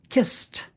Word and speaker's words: kissed: And in kissed, as we know, the D is actually pronounced t, kissed.